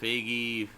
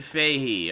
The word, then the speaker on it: Feige: want to live fantastic let's see here Kevin figgy Feige how do you pronounce his last name baby baby faith hey Mike Lahey with an ask Kevin Fahey okay commented that when Disney purchased Fox and